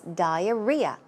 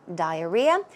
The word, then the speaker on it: diarrhea: case the stress goes right there so it's diarrhea diarrhea a slang for diarrhea is the runs so